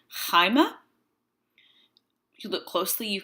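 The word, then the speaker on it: αἷμα: um and in Greek the rough breathing is placed over a vowel to indicate the H sound does we have the Greek word blood Hyma if you look closely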